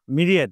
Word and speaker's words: Myriad: বোকাবলীর প্রশ্ন একটা করবো মিরিয়েট আমি উচ্চারণটা বলে দিচ্ছি এম ওয়াই আর আই এ ডি মিরিয়েট mediate মানে তো ভাই